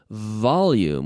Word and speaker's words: volume: tame bah lumen volume volume with a nice V vibrating my lips volume vibrating activating the vocal chords okay the V